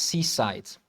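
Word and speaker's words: CSIDH: So the C is for commutive is pronounced seasite.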